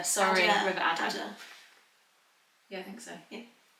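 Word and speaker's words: Adur: It's not pronounced Adieu. River Adder. Sorry, River Adder.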